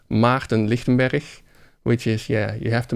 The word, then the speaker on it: Maarten Lichtenberg: So if you want to hear my name correctly, it's called Maarten Lichtenberg, which is, you have to make some sounds with your voice that especially English-speaking people are not used to.